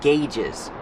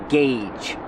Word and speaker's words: gauge: a lot of different gauges pronunciation gauge use the hard GG and the long a like say and pay gauge gauge gauge these